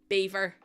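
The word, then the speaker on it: Belvoir: So there's a housing property place called Beaver and it's spelled B E L V O I R. Beaver. Where did the L go?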